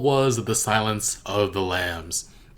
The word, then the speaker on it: Lam: The Silence of the Lambs. My last name is actually Lamb, except for it's spelled Lam.